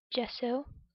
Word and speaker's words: gesso: Now I'm going to be using gesso. I hear it's called gesso, not gesso, so I was saying it wrong.